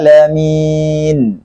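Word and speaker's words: العالمين: Ini bacanya alhamdulillahi rabbil alamin. Di sini pakai ain, bukan pakai hamzah.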